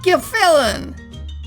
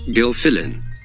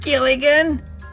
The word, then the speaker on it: Gilfillan: It's pronounced Gilfillan. Gilfillan. So, Buzz, it's not Gilligan, it's Gilfillan.